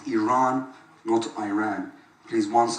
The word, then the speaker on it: Iran: the Iranian people but you're pronouncing our country's name wrong our country is named Iran go to Iran please